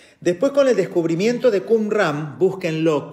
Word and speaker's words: Qumran: Después, con el descubrimiento de Qumran, búsquenlo, Qum se escribe así como lo escribe con Q-U-M, Ram, R-A-M, Qumran.